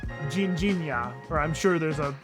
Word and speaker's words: Ginjinha: It's a Portuguese liqueur called Ginjinha, or I'm sure there's a much more Portuguese way of pronouncing that, but that's how you usually hear it. Ginjinha is a cherry liqueur, and it's really famous in Lisbon in particular.